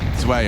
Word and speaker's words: Zwei: Zwei, obviously, is what I called him. Just so we're all aware of how to correctly pronounce it.